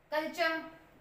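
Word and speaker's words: culture: कल्चर इसके लिए अगर हम बोले टी यू आर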